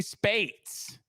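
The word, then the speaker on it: Speights: Is it Speets? Omar Speets, is that right? Spites? Okay. Spites. Okay. Omar Smites, formerly committed to the LSU Tigers. We'll talk on that as LSU Spates. The 8. Say Spates.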